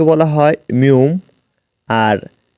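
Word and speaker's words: 미음: রয়েছে এটি কুরিয়ান রূপ ম কে বলা হয় মিউম আর ন এর কুরিয়ান রূপ এর কুরিয়ান উচ্চারণ হলো নিয়ন মটি একটি মূলত একটি বর্গাকার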